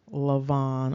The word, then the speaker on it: Laban: Now that can also, of course, based upon betacism, be pronounced Lavan or Lavan.